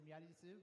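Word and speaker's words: Miary Zo: In Japanese, they say Miarizu, but in English, it's like Miarizu. Yeah. Okay. It's again, Miarizu.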